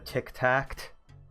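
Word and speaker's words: Tik-Tacht: By the way, Tic Tact is spelled TIK hyphen TACHT.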